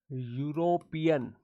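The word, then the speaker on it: European: यूरोपियन ऐसे पढ़ा जाता है, इसका प्रोनाउंसिएशन ऐसे होता है, इसको यू से पढ़ा जाता है।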